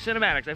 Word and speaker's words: CinematiX: So that is gonna cover the fpvframe.ch cinematics, that's how you say it, cinematics.